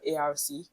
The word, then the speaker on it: ARC: We call all that an arc pronounced arc.